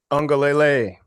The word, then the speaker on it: Uiagalelei: Uiagalelei.